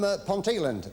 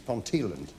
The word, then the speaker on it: Ponteland: excellent excellent now from ponteland in North umberland a lot of people say ponteland it's Pon tand get the pronunciation right dear G fix it